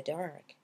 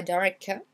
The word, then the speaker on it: dark: Là, on a un mot en une syllabe, donc dark. Dark. Et on allonge un peu le A ici. C'est un A long comme dans car. Dark. Vous voyez, c'est pas dark.